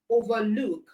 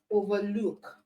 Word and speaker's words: overlook: If the compound word is a verb, all right, it most likely means that the stress is on the second syllable.